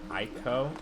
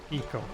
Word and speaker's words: Ico: Ico? Eco. It's pronounced Eco.